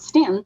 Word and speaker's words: Staunton: So yeah, people from out of town say Staunton, and it's really like Stanton.